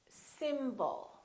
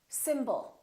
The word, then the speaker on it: symbol: take a word like symbol we have two syllables the first syllable is stressed and the second syllable is reduced when we have a